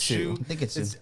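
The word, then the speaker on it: Hsu: time with that name is it hussu is it i think it's shoe but i heard him i heard them one time when they were introducing her say it like shoe so i was like i've never heard it like that before so shoes on the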